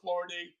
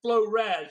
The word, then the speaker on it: FloraD: I used to call her Florad. Florad. I don't know because that's the way it's spelled, right? Flow or Flow Rad. It's Flow Rad.